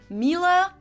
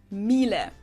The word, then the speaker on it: Miele: And it's not exactly pronounced wrong in English, but English native speakers usually say something like Miele. So it usually sounds more like an A in the end, whereas in German we say Miele. Miele.